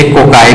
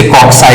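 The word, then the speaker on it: cocci: इसमें जो पहली कैटेगरी बनती है दैट इज कॉल्ड, इसे कोकाई भी पढ़ सकते हैं, इसे कॉक्साई भी पढ़ सकते हैं। कोकाई एंड कॉक्साइज दो इसकी प्रोनाउंसिएशंस बन सकती हैं।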